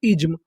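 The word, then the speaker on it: ism: अगर आपको आखिरी में आई एस एम लिखा मिले तो उसे पढ़ते हैं हम लोग इज्म।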